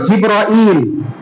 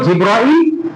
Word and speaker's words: জিব্রাইল: জিব্রাইল দুই শব্দে আস দুইভাবে উচ্চারণ হতে পারে একটা হল জিব্রল আরেকটা জিবলই বলা যায় জিব্রল আলা সালাম সলেম সাললাহ আলাইহি ওয়াসাল্লামের কাছে আসলেন।